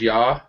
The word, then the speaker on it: yaw: uh y a w y almost kind of like Yahweh in a way yeah like Yan without the N just y aw um yeah but I